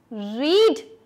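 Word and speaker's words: read: Lost, make made made, रीड रीड। अच्छा, अब ये देखो, ये है रीड, रेड रेड, spelling same है लेकिन इसको बोलते अलग तरीके से, इसलिए ये भी सेकंड कैटेगरी में ही आता है।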